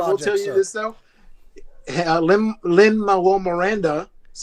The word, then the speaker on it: Lin-Manuel Miranda: Lin-Manuel Miranda, that's how you say his name, actually came